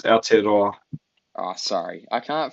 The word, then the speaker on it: Aotearoa: So the last game of the round until we wrap up onto Adarera Origin was the Yeah. ELV Warriors game. Adarera. Yeah, it's a New Zealand Origin basically. It's Aotearoa.